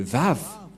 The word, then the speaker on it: Vav: Voilà le Vav. Vav ou W-A-W. Et comment ça s'écrit? Comment ça se prononce? C'est clairement V.